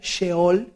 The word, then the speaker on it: Sheol: En el Seol de la época del rey David, el Seol se escribe en el original Sheol, SH, Sheol, Y lo que quería